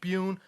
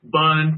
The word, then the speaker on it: Bune: saying my name right A lot of people don't say buun correctly they say bun bunny it's all right cool